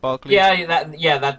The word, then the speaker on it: Barkley: Barkley? That's how you pronounce my hard to pronounce name, Barkley.